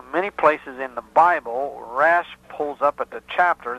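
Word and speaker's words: raash: hebrew letters and it's spelled r a a s h now rash is a hebrew word you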